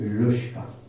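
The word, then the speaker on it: Luschka: ठीक है, लुश्का है और कुछ प्रोनाउंस नहीं करना है इसको, लुश्का ही है।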